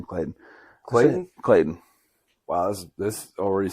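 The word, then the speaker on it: Claityn: name's this kid's name Clayton Clayton wow this this already seems bad for his kid right because it was Clayton Clayton right and it's spelled weird it's like see it's like c-l-a-i-t-y-n so I'm not gonna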